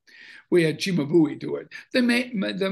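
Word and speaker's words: Cimabue: this church we had the way you pronounce his heart is chimabui we had chimabui do it they made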